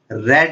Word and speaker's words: read: आई रेड novel, spelling same होती है लेकिन इसे पढ़ा रेड जाता है.